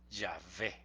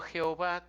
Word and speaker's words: Yahvé: Y entonces diría Yahvé, Yahvé, porque la W se pronuncia como B, Yahvé. Eso sería lo más exacto y no Jehová como sea, vean ustedes qué alejado está, ¿no?